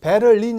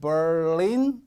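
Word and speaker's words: Berlin: m 업 빠르 인 베를린 이라고 촌 스럽게 함 안되고 벌래 인 이렇게 발음이 됩니다 1 좀 재밌는 해결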